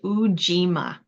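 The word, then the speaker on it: Ujima: third principle Le of Quanza is pronounced uima and it represents Collective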